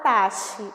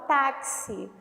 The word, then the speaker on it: táxi: Eu não falo taxi, eu falo táxi, tá?